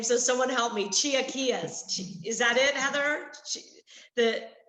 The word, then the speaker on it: chilaquiles: They had okay, I'm going to butcher the name, so someone help me. Chilaquiles. Is that it, Heather? The chilaquiles?